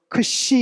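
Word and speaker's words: ξ: 이걸 할 때 앞에는 크 발음이라고 뒤로 연결돼서 보음과 함께 시옷 발음 이렇게 나옵니다.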